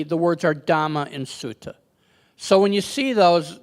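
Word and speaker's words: sutta: up the fact that you may have heard a a couple words in here that sound like they're being mispronounced and they're not and that is dhama and suta you know we often hear the words Dharma and Sutra which are the Sanskrit words but Buddha didn't speak Sanskrit Buddhist spoke a language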